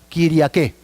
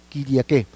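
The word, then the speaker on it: Κυριακή: Yo estaba en el Espíritu, dice Juan, el día del Señor, que significa o se pronuncia Kyriake, ¿no? Kyriake, que es día señorial, día dominical o dominus, que es igual a Señor.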